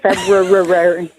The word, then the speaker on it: February: or February no it's February thank you February and we don't pronounce the r it sounds ridiculous febru that's the type of